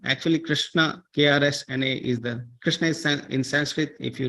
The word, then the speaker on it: Krishna: it can be pronounced Krishna okay and if you write krsna you can pronounce as Krishna okay you see like